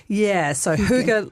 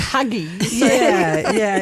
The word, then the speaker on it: hygge: So Hygge like rhymes with cougar. Right, so that's that Danish. That Danish word. I thought it was like huggy.